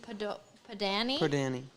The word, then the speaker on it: Padani: The bench brigade volunteer is Brandon Padani. Danny. It says pronounced Padani.